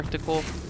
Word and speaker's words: reticle: Rectile or reticle?